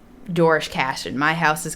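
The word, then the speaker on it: Doarlish Cashen: Dorish Cashin. Okay. Is how I, as an American, pronounce it. I'm not sure how someone on the Isle of Man would pronounce it.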